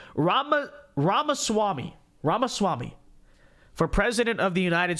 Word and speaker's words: Ramaswamy: you say vivik's last name Rama Rama Swami ramaswamy for president of the United States so I've